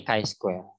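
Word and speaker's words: chi-square: a-a-a-a Bell ini simbol Jadi bukan cheese Freya bacanya ketik IC Square itu jadi jangan Atro ya jangan nih kampungan bacanya ini Hai Square jadi itu kemudian ini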